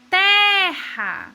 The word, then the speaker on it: terra: A primeira palavra é terra. Vocês conseguem notar qual é a sílaba que é falada com mais força? Terra. É o té, né? Vamos para a próxima palavra.